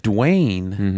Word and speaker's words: Dwyane: Well, and speaking of dumb name, like Dwayne is spelled DWYANE. Yeah. That doesn't make any sense. It's spelled like Wayne with a D.